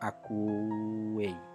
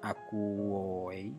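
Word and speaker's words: ἀκούει: Ada vokal rangkap u di sana, maka akuei, bukan akuoi, tetapi akuei.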